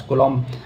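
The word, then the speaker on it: coulomb: देता हूं unit of कूलम कूलम्स होता है। ठीक है? इसको कूलम बोलते हैं। स्पेलिंग होती है सी ओ यू कूलम।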